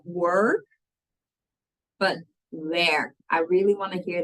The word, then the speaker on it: werk: And work rhymes with twerk and minus the T, which is then with our pronunciation, werk. Not work, but werk.